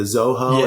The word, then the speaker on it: Xolo: Genetically, um, there's like the the Chihuahua and the I might mispronounce, but it's like the Xolo.